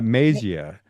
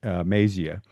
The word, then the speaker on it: Mazia: Ma- Mazia, it's kind of like Maisie. it's That's like maize, like the corn, but Mazia, yeah.